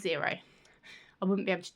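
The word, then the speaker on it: Xero: So I I signed up for zero which is spelled with an X. I was pronouncing it X0 but my husband was like no it's pronounced zero.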